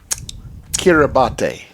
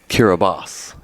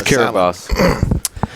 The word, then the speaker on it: Kiribati: When he goes, Kiribati. That's how I pronounced it. It's not close. And you know it's not close. No. For him, it was. It's pronounced Kiribati.